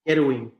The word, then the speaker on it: Kerwin: Kerwin. In Spanish, it's Kerwin. Well, how does his mother say it? I guess. I mean, he says Kerwin.